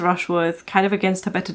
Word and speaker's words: Rushworth: rush brush brush Worth I always get his name wrong I won't know how many times in this video where he said Rushford anyway she's married to mr. Rushworth kind of against her